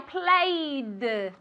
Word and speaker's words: played: play yesterday I played I played with a D sound not with a t sound and gases okay asked